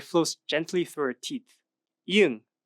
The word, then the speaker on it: 이응: 이응, 응 is silent when it's at the beginning of a word, but at the end it sounds like like sing.